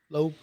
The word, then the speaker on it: Loeb: Is it like Lisa Loeb? Spelled like Lisa Loeb, yeah. Do you guys know who Lisa Loeb is? Loeb.